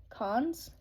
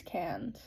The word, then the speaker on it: Cannes: Cannes? Cons? I think it's Cannes.